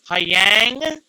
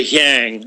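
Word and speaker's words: Niang: George, I'm going to try and pronounce this last name, Hyang. I think they just say Yang or Yang, He yeah.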